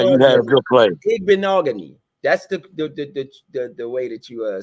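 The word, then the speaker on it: Igbinoghene: The correct pronunciation is Igbeogany.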